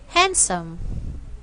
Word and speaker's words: handsome: sound of D because the letter D is silent in the following words we have here Wednesday handsome and handkerchief so guys